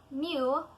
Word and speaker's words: mu: is given Greek symbol mu mu mu which is pronounced very similar to me the definition of the